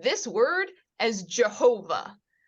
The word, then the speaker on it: Jehovah: pronouncing this word as Jehovah oddly enough this sound can make a y or a j sound so ja ho VA Jehovah is a is a non-word it is mispronouncing the tetragrammaton because why they did